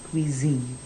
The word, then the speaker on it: cuisine: start with the kitchen i know there's an s there but it's more like a zed sound so la zine not